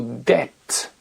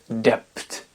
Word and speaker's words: death: qui le prouveent comme le mot death de je prononce bien anglais la dette et non pas dept pour des tête le mot